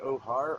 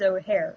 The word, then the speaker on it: O'Hare: Royale will be appearing is it ohar or O'Hare it says it's spelled oh harm but I really think it is O'Hare like h-a-r or h-a-r-e h-a-r another path four